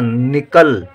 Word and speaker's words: निकल: छोटी ई की मात्रा निकल निनी इ का उच्चारण है कम देर के लिए निकल यदि बड़ी इ की लिख दे तो निकल हो जाएगा निकल नहीं हमको चाहिए निकल तो ना में छोटी